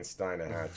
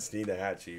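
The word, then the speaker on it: Steinhatchee: you go he said he keeps saying Steinem half she said steena hacci right this time yes yeah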